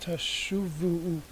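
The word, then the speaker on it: תָּשֻׁבוּ: Now, now this the verb here is actually this is this famous verb here, this 4-letter phrase, which by the rabbis is pronounced tashuvu, because there's a missing,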